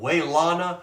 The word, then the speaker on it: Wailana: It's called Wailana Rag. That's spelled W-A-I-L-A-N-A.